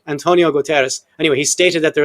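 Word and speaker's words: Guterres: UN Secretary General Antonio Gutierrez, how do you pronounce that? Gutierrez is it? Yeah, sure. Yeah, sure. No, say Komo Kos pronounce it right. Antonio Gutteras.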